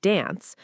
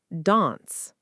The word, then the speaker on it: dance: Then, we explained vowel differences, like the flat A in American dance versus the longer A in British dance.